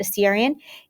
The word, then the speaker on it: Assyrian: the second and the assyrian that's how you pronounce it assyrian is the third and then we go into